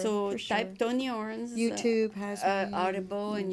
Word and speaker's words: Orans: Orans, You yes.